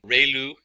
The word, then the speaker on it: ReLU: We have the sigmoid function, we have just a standard step function, we have the ReLU, it's pronounced like ray, the ray from the sun, and lu, like a name, so ReLU function.